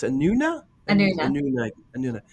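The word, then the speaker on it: Anúna: time like when you were on an it's pronounced anuna anuna anuna anuna how many times were you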